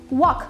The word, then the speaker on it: walk: Зверніть увагу, «l» тут не читається. «To walk» – «walk».